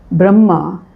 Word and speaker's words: Brahma: Brahma the uh word Brahma with an elongated a elongated a sound at the end is not the same as Brahman that is the supreme consciousness or the supreme power.